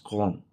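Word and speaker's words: Köln: Colon ang spelling niya colon but it's pronounced as con.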